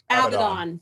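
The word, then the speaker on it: Abaddon: How do you say Abaden? Uh, Abdon. Abdon. Okay. I didn't know that.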